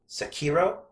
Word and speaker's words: Sekiro: Then From Software announced Sekiro, I think it's pronounced.